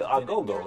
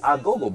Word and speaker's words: agogo: the agogo.